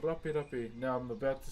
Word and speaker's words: rape: I just want you all to know that the English language has nothing to do with the Moldi language. Okay? Now the way you spell it is R a P R A P E. Okay? Moldi language, not English, Mi language. Just want to make that very clear.